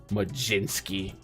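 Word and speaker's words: Mlodzinski: Majinski. There's no J. There's no Jay in there.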